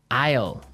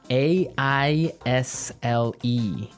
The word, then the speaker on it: aisle: Aisle. Aisle. A-I-S-L-E. Aisle. Aisle. It's a tricky word. It sounds like the contraction of I will.